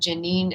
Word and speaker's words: Geneen: And Janine is spelled Geneen.